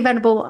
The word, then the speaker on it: venerable: I'll hand over to you, Venerable Michael, for our sign off. Okay, venerable is a big word, four syllables. It is venerable. It's a mouthful.